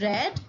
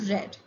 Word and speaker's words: read: it's b2 and b3 form uh spells the same but it is read as here read b2 is red and b3 is also red it is a difference in the pronunciation here we have sell